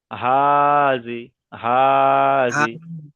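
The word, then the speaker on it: هذه: হা খারাজের কি, খি নয়, হি। হা খারাজের হি। হা খারাজের হি, তাহলে হা হাজিহি, হাজিহি।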